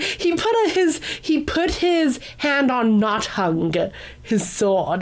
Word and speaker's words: Nothung: It's spelled like this: Nothung. So I know it's not hung or something like that.